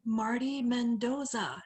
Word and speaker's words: Marty Mendoza: i'm angel uh today we are speaking with marty mendoza and did i pronounce that right you did okay it's an